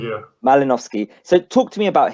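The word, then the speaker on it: Malinovskyi: How do you pronounce his name? Malinovsky? Malinovsky, yeah. Malinovsky.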